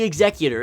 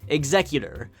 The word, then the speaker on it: Executor: The Executor is definitely one of a kind, and that is how it's pronounced, Executor, not Executor.